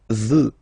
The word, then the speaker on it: veux: Vouloir, first person, je veux. Final X not pronounced.